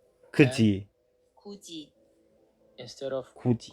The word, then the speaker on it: 굳이: so they are pronounced as 같이, Kachi and instead of kati, Kuji. 굳이, instead of Kuji. kudi.